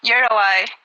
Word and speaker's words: Uruguay: Uruguay, or Uruguay, is more of an English pronunciation.